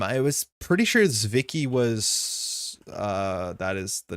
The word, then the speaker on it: Zwicky: Oh no, it's still not a short I in Zwicky. The main difference is how you've been saying is that it's a sharp Z. So think Zwicky, not Sawicki.